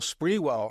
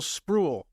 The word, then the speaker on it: Sprewell: My mistake was not checking with Latrell to double-check the pronunciation. But I said to myself, well, if the head coach calls him Sprewell and the guy who recruited him calls him Sprewell, his name is Sprewell.